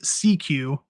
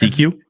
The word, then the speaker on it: SECU: union that will recognize SECU, pronounced CQ. Oh, so it's not even there is no meaning. It's just CQ?